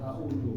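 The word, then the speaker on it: أعوذ: Jadi jangan sampai ketika membacanya nanti keliru ya, a'udzu. Padahal seharusnya za ini ada di ujung lidah, bukan di tengah lidah.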